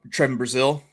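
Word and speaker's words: Trevon Brazile: How do you pronounce your center's name number seven? Oh Trevon Brazil.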